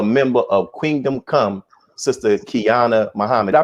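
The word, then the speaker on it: Qiana Muhammad: and also a member of Kingdom Come, Sister Kiana Muhammad. I pronounce that right?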